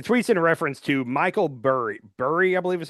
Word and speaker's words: Burry: The tweet's in reference to Michael Burry.